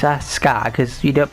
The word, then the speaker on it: Asuka: sue me it's like a scar it's not Asuka it's a scar cuz you don't pronounce EU in the Japanese language cuz all